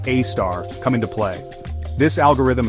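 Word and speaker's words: A*: AI front algorithms like a asterisk pronounced AAR come into play this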